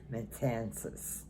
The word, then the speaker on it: Matanzas: monument and the pronunciation is met my Kansas metances because it's spelled m-a-t-a-n-z like in zebra a s and